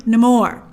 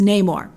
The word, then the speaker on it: Namor: All right, number 9, Namor. Now, that's how he pronounces his name, although sometimes in the comics it's Namor.